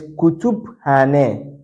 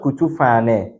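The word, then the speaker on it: kütüphane: So this is Kutubhane, Kutubhane, Kutubhane, not Kutufane.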